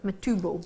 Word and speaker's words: Matubo: matchable that's how I pronounce it you might pronounce it differently m e t u b oh matbo matubo there we go see it's a Scottish I